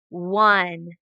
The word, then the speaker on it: one: part there we go so the o and the e are kind of the tricky part so let's go ahead and read this word what word is it one spell it o n